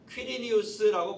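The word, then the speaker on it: Quirinius: 또 구레뇨는 보통 퀴리니우스라고 발음합니다. 퀴리니우스.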